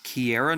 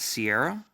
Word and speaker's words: Kiera: you on your way Kiera not Sierra it's Kiera I thought it was Sierra the whole time that's how you spell